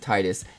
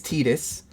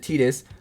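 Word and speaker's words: Tidus: Uh, so to me, it just always made sense to pronounce it Titus. And I know that technically technically it's Tetus and that you're supposed to pronounce it Tetus, but in my opinion, my memories and my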